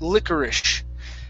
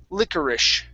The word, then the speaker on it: licorice: And this word here is pronounced licorice. So the S-E at the end is actually pronounced like a S-H sound. It's licorice.